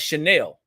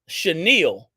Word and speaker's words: chenille: pronounced this patch initially I pronounced it in one of the videos as chenel and I had a young lady on Tik Tok she wrote it out and she said it's chenil not chenel but she didn't say that